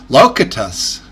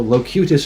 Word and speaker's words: Locutus: seen the video Until is that how you pronounce it that's so weird I came up with locatus that's what I'd start well you know if you watch Star Trek you would know locutus aboard apparently yeah Geeks dude absolutely yeah no